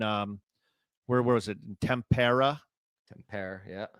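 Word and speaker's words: Tampere: Tempair. Yeah. Is that how you say it? Tempair. Yeah.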